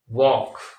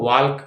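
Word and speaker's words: walk: कर देते हैं वॉक अब यहां पर जो एल साइलेंट है इसमें एल लगा देते हैं साइलेंट नहीं करते हैं हटाते नहीं है लगा देते हैं जैसे यहां वक है तो वाल्क कर देंगे टॉक को टलक कर देंगे है ना इस तरह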